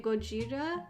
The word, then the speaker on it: Gojira: I think in Japanese they say Gojira instead of Godzilla, like we obviously say it wrong.